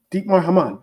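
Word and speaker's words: Dietmar Hamann: Deepmar I think is how I pronounce it. Hopefully JK can help me out with that pronunciation. Deep. Say it again. Deep Maman. Deepar Haman.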